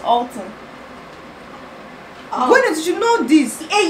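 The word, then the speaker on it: halten: In fact, it's Alton.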